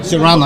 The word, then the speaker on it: Serrano: This is Serrano. Did I pronounce that right? I'm sorry? Serrano? Serrano, yeah. Serrano, right? Perfect, And, perfect.